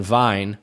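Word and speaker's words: Wein: Veen which is German for Vienna and then vine which is German for wine and so you know I would write Veen on the chalkboard and they'd say Oh blah blah blah blah blah vine and I know like it's Veen and so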